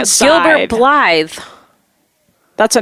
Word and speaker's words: Blythe: It's B-L-I. Blith, Mom. Yeah, it's like blith with an E.